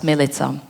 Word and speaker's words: Milica: My name is Milica, but people call me Millie because they find it difficult to pronounce Milica. I always wonder why, because it rhymes with pizza, and everybody can say pizza.